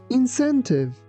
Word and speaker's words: incentive: Here, be careful that letter C sounds like S, not C.